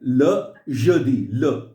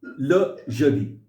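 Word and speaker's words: le jeudi: अच्छा, नेक्स्ट है ल जदी, ले नहीं है, ल जदी, Le.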